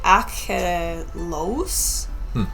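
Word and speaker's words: Achelous: which is pronounced as roughly Achelos, Okay.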